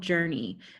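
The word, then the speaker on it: JRNI: like yeah thank you my company is called journey it's spelled jrn I because the band don't stop believin has all the trademarks cornered on the so J are ni is journey and we're a journey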